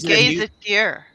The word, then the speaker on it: gazetteer: So can you describe to me what exactly a Demimonde's gazetteer? Am I saying it right? Is it a It's a gazetteer.